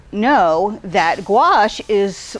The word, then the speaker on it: gouache: spell or pronounce and that is gouache pronounced Goo not guake not gacki not any of those things and you're wondering probably